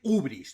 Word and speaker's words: hibris: Ibris, que es un término griego, también se escribe no solo ibris con i latina, las dos, sino también como ibris, la primera con y, hy, ibris, o también ubris, ¿no?